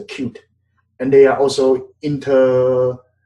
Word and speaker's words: Qt: Qt we pronounce a Qt.